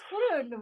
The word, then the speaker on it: Groen: But my last name, Groen, is Groen. involving the G and the R in combination.